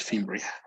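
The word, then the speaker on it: fimbriae: any problems okay it would be fimbria as if the the e didn't exist so we in in spanish we would just say this fimbria right without the e so in english it's fimbria okay okay you were saying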